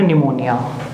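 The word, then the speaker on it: pneumonia: Next हमारा जो disease बनेगी वो है निमोनिया। निमोनिया की स्पेलिंग सब बच्चों ने ध्यान से चेक करनी है। निमोनिया पी से स्टार्ट होता है, पी साइलेंट है इसमें, और ये इंग्लिश में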